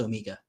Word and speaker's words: Omega: saving up but um in Britain it's definitely pronounced Omega I'm done so if